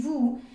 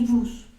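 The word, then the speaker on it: vous: que sería nu y Vu tenemos que acordarnos de que Esas últimas eses no se van a pronunciar O sea no vamos a decir ni nus ni bus con la excepción de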